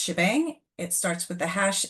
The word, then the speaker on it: shebang: So as we mentioned that first line is pronounced shebang.